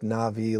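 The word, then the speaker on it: נביא: and it's pronounced like na'vi like the U there's a movie called Avatar the na'vi uh but it's pronounced that way but it's NBI now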